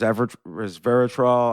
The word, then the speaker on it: resveratrol: talked before about um nmn and uh res Resveratrol I I don't know how to say it